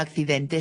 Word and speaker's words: accidente: Por ejemplo, la palabra accidente se escribe con dos Cs, pero se pronuncian como si fuese una X.